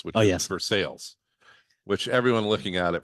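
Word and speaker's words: Versailles: one of my favorite uh Town names which versales which everyone looking at it from outside thinks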